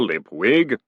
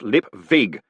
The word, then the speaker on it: Lipwig: Lip Wig." "It's pronounced lip vig, you moron," he moaned. "A V, not a W."